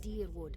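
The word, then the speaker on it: Dyrwood: A fascinating time to be alive in a place like Deerwood that does not control the research, no?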